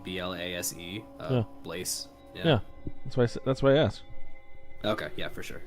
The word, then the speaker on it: blasé: Well, how would you pronounce the word blast? No, Blaze?